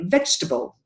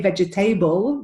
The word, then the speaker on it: vegetable: where you know you we native speaker some like they have something in their mouth when they say this we say vegetable yeah we don't say vegetable there's no table in this word it's vegetable vegetable and